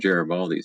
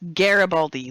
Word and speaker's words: Garibaldi: Garibaldi's awesome. Yes. It's Garibaldi, like garage. Not Garibaldi, like Jerry. No, it's Garibaldi like the chocolate.